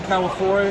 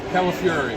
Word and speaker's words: Calafiore: So here with Jim Calafiore. Am I saying that right? No? Calafiore. Say it like California, but we get angry at the end. Califiore.